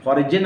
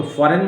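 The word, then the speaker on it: foreign: पढ़े जा रहे हैं, लेकिन जी आपको ड्रॉप करना, जी नहीं पढ़ना। फॉरिजिन अगर आप कर देंगे तो सेंटेंस गलत हो जाएगा और लोग मौज लेंगे, तफरी लेंगे, आपकी हंसी उड़ाएंगे।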